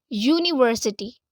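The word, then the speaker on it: university: टू go with N बट यूनिवर्सिटी अब यहां पर पूरा यू का साउंड आ रहा है जबकि यू वोल का साउंड नहीं है अ वर्बल का साउंड है यू के लिए हम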